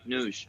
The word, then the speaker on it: Noosh: a it's a pronoun it's pronounced like noosh because that's how i would probably when i see it read it yeah but you say